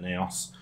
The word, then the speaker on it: Naos: is the my onyx naos qc i think as they pronounce it neos um smart gaming mouse